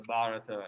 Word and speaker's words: Bharata: a bharata see the the quotation is after the first syllable there so that means you say the ba first so the bharata is how you say